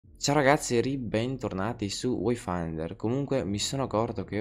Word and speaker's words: Wayfinder: Ciao ragazzi, ribentornati su Wayfinder. Comunque mi sono accorto che ho sbagliato sempre la pronuncia del nome del gioco. In questo caso non è Wayfinder, ma bensì Wayfinder.